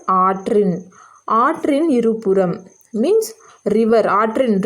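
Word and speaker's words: ஆற்றின்: Now here you can see this is not Arin, it is Atrin.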